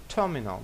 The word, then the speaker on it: terminal: Terminal, на перший склад. Де наголос тут? Terminal. Наголос в англійській мові в транскрипції ставиться перед наголошеним складом. Тобто в другому випадку виходить наголошений склад – це mineral. Mineral. Terminal. А тут terminal. Ми знаємо, що terminal на першому складі наголос, тому виділяємо A.